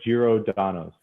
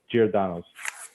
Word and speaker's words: Giordano's: bit of a drive it's uh girodanos it's giordano's uh i'll spell in